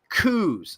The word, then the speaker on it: coups: These are called coups, C-O-U-P. The P is silent.